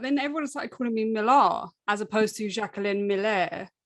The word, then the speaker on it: Millar: Also, it is pronounced Millar, right? Not, not Millar. Well, this is the thing, because... I called myself Millar, I always have, but then everyone started calling me "Milah" as opposed to Jacques-Alain Miller.